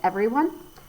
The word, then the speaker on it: everyone: so we have e now if you were just saying it like that you wouldn't hear that there's a second e in there so it's ever e